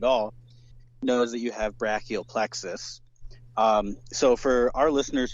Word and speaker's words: brachial plexus: hundredth person to do this but it's actually pronounced brachial plexus uh yeah yeah like you you are like